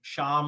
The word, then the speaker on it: Shyam: so this is a good way to pronounce my name sham like sham allah right everyone is now